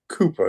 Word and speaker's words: Cowper: And he was pushed in this direction by a poet called Cooper. It's spelled Cowper.